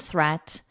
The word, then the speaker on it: threat: Watch out for meat and greet and threat. They rhyme with sweet and straight and debt.